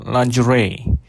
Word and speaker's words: lingerie: Jadi bagaimana hukum menggunakan lingeri. Nih lingeri itu apa pronunciation itu kan dari bahasa Inggris ya. Yang benar bacanya lungery ya.